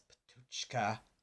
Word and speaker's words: Patočka: That's Patocké with an inverted caret on top of the C, indicating that it's ch as opposed to s or k. So that's Patočka, if I'm saying it correctly.